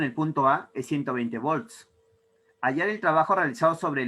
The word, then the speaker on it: volt: No se dice voltio, se dice volt.